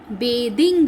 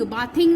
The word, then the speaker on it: bathing: ING लगाना है तो BATHING, बेदिंग, बाथिंग नहीं, इसकी प्रोनाउंसिएशन चेंज हो जाती है बेदिंग, ओके।